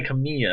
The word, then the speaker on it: Kamiya: It's Tai Kamiya. Oh, okay. Yeah, Kamiya. There you go, Maltamiya.